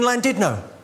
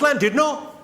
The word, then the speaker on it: Llandudno: I said, "It's lovely to be in Llandudno." This guy, front and centre, where you're sitting there, face like fucking thunder, went, "It's not Llandudno, you bloody fool.